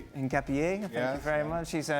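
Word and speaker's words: Hincapié: Shaka, you you uh you've sorted out my pronunciation of Pierro Hapier. In Capier, thank you very much.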